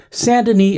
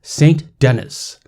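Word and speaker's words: Saint Denis: I shall not name pronounced sandini as Saint Dennis which I could not abide and at the same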